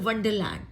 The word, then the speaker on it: Wonderland: इसको ना बहुत लोग इसको वंडरलैंड बोलते हैं। ये वंडरलैंड नहीं होता बच्चे, इसको ये होता है वंडरलैंड। इसको सिर्फ ये वर्ड भी होता है ना, वंडर वंडर, ठीक है। तो इसको वंडर बोलते हैं, वंडर वंडर नहीं बोलते। तो इसको बोलते हैं वंडरलैंड, ठीक है। आर जो होता है इसका साइलेंट होता है।